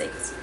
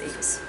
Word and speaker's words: equus: And I think I actually pronounced the one part wrong. No, I didn't. I lied. It's equus. It's equus.